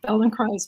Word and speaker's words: Feldenkrais: In fact, we've done, you know, we try to do a service and we say it rhymes with paradise. So, felon cries paradise.